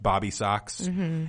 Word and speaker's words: Bob B. Sox: It's probably supposed to be pronounced Bobby Sox.